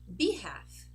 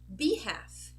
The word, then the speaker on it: behalf: So when the letter L is followed by an F, we end up saying E and we don't say the L.